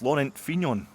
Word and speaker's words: Laurent Fignon: Okay, we'll go with the kind of English phonetic pronunciation of Fignon.